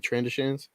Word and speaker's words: Trandoshan: Oh, the Trandoshans? Yeah, the Trandoshan. That's how you say it. Trandoshans. Like something you put on the end of a bed.